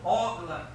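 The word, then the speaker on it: Hogla: tradução para o português aqui nós pronunciamos ogla e começa com h e ogla significa o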